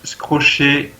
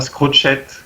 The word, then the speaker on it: Scrochet: Et en bleu, Eni, Inu Yop Panda, Yopidux, Scrochet, et non pas Scrochette, comme disaient certains.